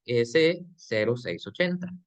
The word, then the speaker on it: EC0680: el eco 680 no Y eso está mal dicho porque esto que está aquí no es una o es un cero sí Entonces ese es las siglas de estándar de competencia y su pronunciación o su o su lectura correcta sería s 0680 Sí entonces esa sería la manera correcta de leer el código Sí y todo está